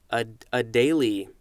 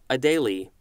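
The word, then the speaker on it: Adélie: an animal Adelie penguin let's see if I'm pronouncing that correctly a daily a daily penguin capital a de and there's an accent over the e li e this is a noun from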